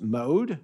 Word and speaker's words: MOHD: The multi-omics for disease, for health and disease, or MOHD, which is pronounced MODE consortium, aims to advance the application of multi-omics technologies for studying health and disease in ancestrally diverse populations.